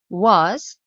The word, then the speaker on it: was: également un y invisible was donc c'est ça s'écrit avec un S ici mais ça se prononce Z d'accord pourquoi parce que